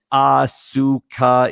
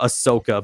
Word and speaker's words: Asuka: Asuka is her name. Literally, he pronounced Asuka's name Ahsoka, but just long-winded.